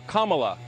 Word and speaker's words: Kamala: um host on Fox her name is pronounced comma like the punctuation mark La Kamala okay seriously I've heard